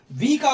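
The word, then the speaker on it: walk: ए एल के वाक डब्लू ए एल के वाक अब यहां पे एल साइलेंट है यहां पे एल साइलेंट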